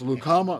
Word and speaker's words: Lucama: Then we got another name that has a hard time being pronounced. It's Lucama, North Carolina. It's been called Lucama and everything else.